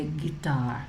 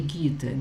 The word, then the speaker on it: guitar: Pay attention to the pronunciation. There is the guitar, because a lot of people say guitar. That's not the right pronunciation.